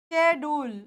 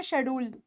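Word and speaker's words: schedule: ये अब देखो ये ये हो जाएगा स्केड्यूल या स्केड्यूल कुछ स्केड्यूल बोलते हैं वैसे हम पता है क्या बोलते हैं इस हम बोलते हैं शेड्यूल यह हमारा शेड्यूल है नहीं हमारा शेड्यूल नहीं है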